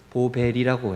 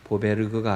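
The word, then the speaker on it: Boberg: 스웨덴 발음으로 보벨이라고 해요. 보베르그가 아니고 보벨이라고 하는 게 맞답니다.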